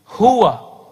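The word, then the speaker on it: هو: Hu, he. Huwa. Ya. Tapi dari dulu kita bacanya hu.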